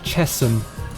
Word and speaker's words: Chesham: It's like, you know, Chesham in at the end of the Met line. It's actually Chesham because of the river Chess. It doesn't sound right, does it? And it's literally spelt like Chesham.